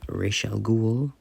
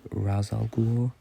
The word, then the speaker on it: Ra's al Ghul: I always say Ra's al Ghul, but I know it also gets said Ra's al Ghul. Definitely changes between shows and movies, but I've always stuck with Ra's al Ghul.